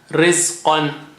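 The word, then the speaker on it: رزقًا: Rizqan. Qan. Qa is high sounding. Rizqan.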